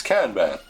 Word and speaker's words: Kanban: How you pronounce it in English? Kanban. Let's see, Kanban. It's international. Kanban. Yeah, it's Kanban.